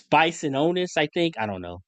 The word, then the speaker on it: Bisontis: Texas A&M, Chase be on be I it's Bisononis, I think. I don't know. I don't know how to pronounce these names. But Basantis? Is it yes, Basantis?